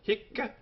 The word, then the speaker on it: hic: singer neutral he H notice the Double C on the end even though one C only is written this is how the Roman garans tell us we pronounce it hick hi HW this that's